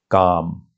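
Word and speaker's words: کام: Kaf, that gives you k sound. Medial alif gives you a sound, and meme. So that makes calm.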